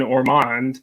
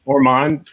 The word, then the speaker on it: Ormond: Ormond. I believe I'm pronouncing that correctly. Yeah, that's right. Ormond.